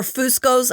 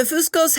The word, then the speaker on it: Fuscos: The Fuscos, or Fuscos, I've heard it pronounced both ways, they provided Katie with a wonderful life. She was loved and cherished, and they had a beautiful family. The Fuscos have 2 biological sons